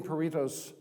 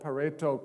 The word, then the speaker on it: Pareto: How many of you have seen Pareto's principle? Might be pronounced Pareto, because he was an Italian in the late 19th century.